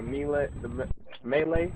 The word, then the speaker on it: melee: Like the attack on the delay, like the melee.